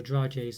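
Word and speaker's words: dragée: these sort of crunchy dragees or dry j's they're called and that's how you pronounce exactly but um and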